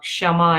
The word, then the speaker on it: Shama: it's yes not normal the spelling of Shama and how you pronounce K is silent and that's why even